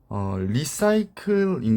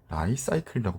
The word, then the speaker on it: Li-Cycle: 공부를 해보도록 하겠습니다 기업개요입니다 리사이클인 것처럼 보이거든요 리셀 그린 것처럼 보이는데 실제로 이제 컨퍼런스콜을 들어오면 라이사이클이라고 발음을 합니다 그래서 저는 라이사이클이라고 일단